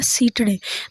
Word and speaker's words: सीठड़े: सीने बोलो या सीठड़े? सीठड़े बोलते हैं, वैसे सही उच्चारण में इसका नाम क्या है? सीठड़े।